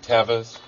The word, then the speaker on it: Teva: You mean Tevas? Oh man, I meant Tevas. Teva, that's the thing that records the television shows, that's what you're talking about. It's pronounced Teva.